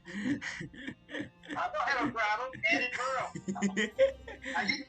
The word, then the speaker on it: Edinburgh: Edinburgh. It's Ed in Burrow. Okay. And he's the inside of a burrow. Seems like you're having a hard time pronouncing it there, mister. I don't have a problem. Edinburgh.